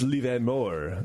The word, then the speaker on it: Livermore: It's Livermore. It's pronounced Livermore.